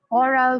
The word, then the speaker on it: oral: Distinct pronunciation for certain words, geyser, rhyming with riser, oral with sorrel, first syllable of vitamin like high is as like high as in American and Scottish English.